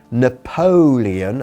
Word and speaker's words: Napoleon: Napoleon, así decimos Napoleón, Napoleon, enfatizando la segunda sílaba, Napoleon was driven out of Spain in 1814.